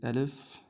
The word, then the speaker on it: alif: So, the first ever letter that we took is alif. Alif. Straight line, up down, with an S on top. Um pronounced uh the name of it is alif